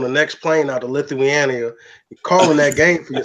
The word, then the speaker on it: Lithuania: Hey, look, LeVar, I'll be on the next plane out to Lithuania, calling that game for your son. First off, you're gonna pronounce the country right before we go out there and be on the radio.